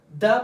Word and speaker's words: the: और फिर THE को हम लोग दी कब प्रोनाउंस करते हैं? जब THE प्लस वोवल आ जाए। जब THE के बाद कंसोनेंट आ जाए तो फिर द हम लोग प्रोनाउंस करते हैं। जब THE के बाद वावल आ जाए, लफ्ज वावल से स्टार्ट हो जाए, तब हम लोग क्या इस्तेमाल करेंगे? दी।